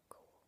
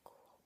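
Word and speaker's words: Goole: sure it's Inspector Cool, which I think is intentional because it sounds a bit like a ghost. Cool is spelled two different ways, cool as in ghost, and in this sense is cool.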